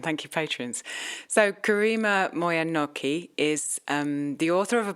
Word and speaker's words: Moyer-Nocchi: It is a French name, but it's become anglicized, and so I pronounce it Moyer. Okay. Moyer, and then Nocchi. Yeah. Moyer-Nocchi.